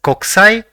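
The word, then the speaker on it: こくさい: The first character in the word is ko, the second is ku, the third is sa, and the fourth is e. So it will be pronounced as kokusai, which means international.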